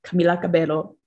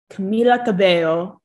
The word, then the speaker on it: Camila Cabello: very adamant thing to make sure they say her name right so it is camila cabello camila cabello there we go so camila